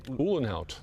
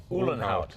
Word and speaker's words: Uhlenhaut: Uhlenhaut. Uhlenhaut.